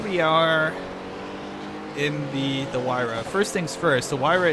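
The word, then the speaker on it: Huayra: track we are in our wire which that's how you pronounce it I looked it up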